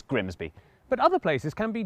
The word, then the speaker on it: Grimsby: Looks simple, but what if we told you it was pronounced Grimmies? We'd be lying, it's Grimsby.